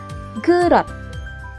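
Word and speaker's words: 그릇: Uulitin ko po, itong double S and single S, kapag nasa huling posisyon ng isang Korean word, letter T sounds po yung pagbigkas dito. Okay po? For example, gurot.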